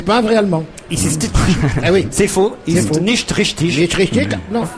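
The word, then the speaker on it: Phau: C'est allemand, ça s'écrit P-H-A-U. Oui. Il n'est pas allemand. Oui, il est allemand. Et il est tout jaune. Ben, non, mais il s'appelle Faux.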